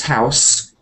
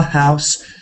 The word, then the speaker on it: house: it could be both it could be either um a s or a z because it depends whether it's a verb or a noun if it's a noun my house there's a Madness song My our house in the middle of our street our house that's s but house is a z as a verb so I'm not sure